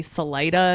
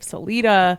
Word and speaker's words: Salida: They say Salida instead of Celita and Lewisville instead of Louisville.